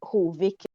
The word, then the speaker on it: Hovik: So in my head, it's Hovik. That's how my ancestors probably used to say it. Right? So it's like how it sounds in my mind and how I need to pronounce it.